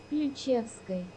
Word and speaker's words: Ключевской: This is the Russian pronunciation for that volcano. Ключевской.